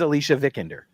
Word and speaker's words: Alicia Vikander: My Tony Almeida from Tomb Raider is Alicia Vikander.